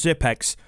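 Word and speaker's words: Xyp9x: top 20 by the astralis organization zip nick's pronounced zip x has been quoted with saying i'm fairly confident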